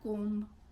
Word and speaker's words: comb: So B is there, but we don't pronounce it.